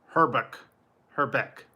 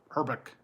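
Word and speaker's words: Hrbek: His name is spelled, it's Kent, H-R-B-E-K. Herbeck. And I guess they told him to buy a vowel because there's no vowels at the beginning. H-R-B-E-K. Herbeck.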